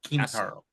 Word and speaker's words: Quintero: It's Quintaro. Quintaro? Quintaro. Quintaro with like a K sound is what you're saying? That's how he pronounces it? It's not Quintaro like it looks like?